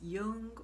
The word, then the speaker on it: Jung: last name wrong, but his last name is spelled J U N G, but I think it's pronounced Yung or if you know